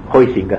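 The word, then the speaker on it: Huizinga: cremosa de malawi sica hoy finca se dice pero nadie lo pronunció así juan hoy chica que escribió un libro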